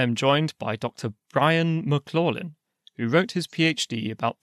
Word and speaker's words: McLaughlin: I must correct your pronunciation. It's McLaughlin. McLaughlin.